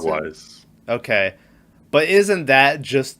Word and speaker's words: Mogwai: How do you pronounce it? Mogwais.